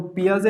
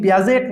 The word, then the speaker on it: Piaget: देखो, पियाजे अगर अपन लिखने जाए ना, PIAGET, स्पेलिंग ये है, लेकिन पियाजेट नहीं कहते हैं, पियाजेट नहीं कहते हैं। नहीं, स्विट्जरलैंड को हम स्विट्जरलैंड बोलते हैं, नहीं बोलते स्विट्जरलैंड। जैसे नाइफ में के साइलेंट होता है, KNIF, नाइफ में के साइलेंट होता है, और पियाजे में यहाँ पर टी साइलेंट है, स्विट्जरलैंड में भी टी साइलेंट है।